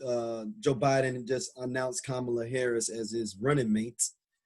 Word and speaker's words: Kamala: to pronounce her name i don't know if it's kamala come on it's kamala harris so correct them every